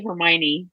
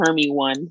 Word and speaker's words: Hermione: Or like when they say, like they know how to say Hermione because they've already seen the movies. But you know, like some of us who were saying Hermy one for God knows how long, um, they don't have that.